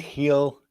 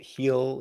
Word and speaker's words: Gil: sox today isn't it heel isn't it heel isn't that how they pronounce it okay let's hear the